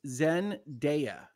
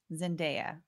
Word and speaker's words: Zendaya: it's Rihanna okay all right uh it is pronounced Zendaya Zendaya okay thank you I will take that correction